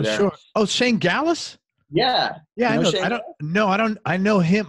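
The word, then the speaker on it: Gaalaas: How do you pronounce it? It's Gallus.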